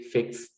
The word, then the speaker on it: fixed: So for example, if you have like, you know, fix, so you would say fixed.